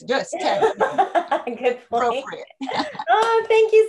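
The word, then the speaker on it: dödstädning: The first syllable, dus, rhymes with puss, like pussycat, dus. And the second syllable is Ted, like TED Talks, and then ning. So dus Ted-ning.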